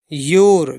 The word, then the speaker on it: your: योर, देखिए बाई से या, ओ से ओ की मात्रा, यहाँ पर यू साइलेंट है, आर से रा, योर।